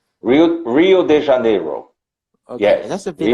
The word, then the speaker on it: Rio de Janeiro: It's different from Rio de Janeiro, that it's a touristic city, and the tourists